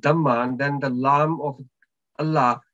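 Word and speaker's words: الله: then the lamb of allah letter word allah will be pronounced with the heavy sound and if the preceding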